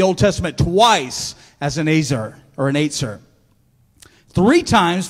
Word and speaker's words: ezer: that word, it's actually E-Z-E-R. And I called it Ezer for a long time, but it's not. It's actually pronounced Aetzer, right? Aetzer. E-Z-E-R, pronounced Aetzer.